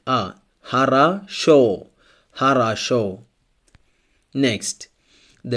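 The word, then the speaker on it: хорошо: lessons if the letter O is unstressed it's pronounced like a for example Haro Haro it means good Haro here only the last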